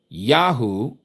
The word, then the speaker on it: Yahu: Y H U, not W H They give us the double U. Notice the word double. Double two letters, two Us, okay? Double U. But it's only one U. That is a Yad Ha Ua Ha. Ya U Ah. Yahoo, which is the first three